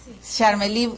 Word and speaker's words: Charmelí: Charmelí, Charmelí, así se pronuncia tu nombre.